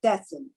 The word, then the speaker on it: Thessen: on the pronunciation of your last name tessen or thessen ah tessen is perfect ah okay and tessen